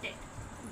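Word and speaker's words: debt: इसको आप लोग बोलते हैं डेविड। डेविड। पर इसमें क्या होता है? बी साइलेंट होता है। तो इसको हम बोलते हैं डेट। डेट।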